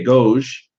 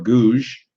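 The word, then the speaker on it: Gouges: de gosh uh or gouge olymp de gouge uh and her last name is spelled uh d e day uh g-o-u-g-e-s and I'm not French so I'm probably butchering that name olymp de gouge and she wrote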